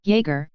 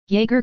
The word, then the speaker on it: Jäger: Jäger, singular Jäger, plural Jäger, German pronunciation, is a German military term that originally referred to light infantry, but has come to have wider usage.